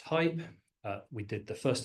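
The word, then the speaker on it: HAIP: Uh so the next one is high assurance interoperability pronounced hype.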